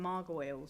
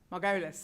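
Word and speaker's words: Margolyes: need we talk about the care needs Miriam Margo from uh oh she was in Harry Potter um quite famously have I have I pronounced it wrong marus margolus okay thank you uh she was quite famously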